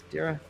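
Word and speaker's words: Deira: you pronounce this Josh d-e-i-r Dira right there yeah um and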